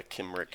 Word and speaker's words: Cymric: Yeah, Kimrick. Kimrick. names. They didn't have soft C's back then. It's all hard C's.